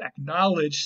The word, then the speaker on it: acknowledge: that word is acknowledge acknowledge still has that k sound and sometimes we actually weaken it to a gu sound but that happened later it still has that close sound there before the end it never fell out